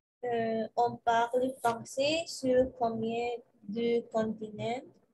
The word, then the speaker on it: parle: Et parle, recuerda no prononcer la última letra.